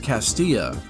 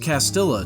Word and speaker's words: Castilla: my video on cursed castilla i even pronounced it properly this time cursed castilla cursed castilla cursed castillo